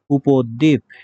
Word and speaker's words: উপদ্বীপ: দ এর সাথে ব ফলা রয়েছে মাঝখানে, অবশ্যই দ দুইবার উচ্চারিত হবে, উপদ্বীপ।